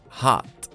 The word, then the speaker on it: hot: short tall repeat hot notice that letter o doesn't sound like oh but ah hot hot not hot hot okay cold remember to use